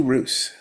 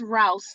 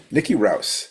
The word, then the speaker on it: Roose: Um Oh, and it's pronounced Rouse, like house but with an R. Okay, Nikki Rouse.